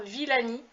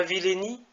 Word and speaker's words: Villani: de la publication du rapport Villani, et non pas Villeni, sur l'intelligence artificielle.